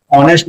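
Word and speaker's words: honest: से स्टार्ट होता है लेकिन यहां पर ए जो है वो साइलेंट होता है और हम ऑनेस्ट को प्रस करते है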